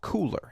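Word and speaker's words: Kuler: Now, it's spelled K-U-L-E-R, but it is called Cooler, as in, hey, it's cool.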